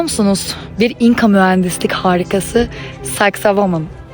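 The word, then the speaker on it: Sacsayhuamán: Bir İnka Mühendislik harikası sexa woman söyleyemeyenler sexy woman diye de telaffuz ediyor olabilir ama bugün telaffuzunda daha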